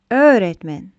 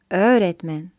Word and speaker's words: öğretmen: Öğretmen. Öğretmen. Вторая буква – это юмышак Г, мягкая Г. Она велярный аппроксимант, то есть она произносится как внутренний звук Л. И также она удлиняет предыдущую гласную, то есть Ö.